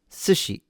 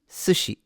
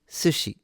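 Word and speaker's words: 寿司: This is pronounced sushi. Sushi si sushi. Now for the advanced learners, the pitch accent is high to low.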